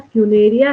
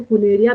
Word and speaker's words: Funaria: एक है फ्यूनेरिया है, कई लोग इसको फुनेरिया भी कहते हैं, FUNARIA, जैसी प्रोनाउंसिएशन है वैसी स्पेलिंग है, ठीक है।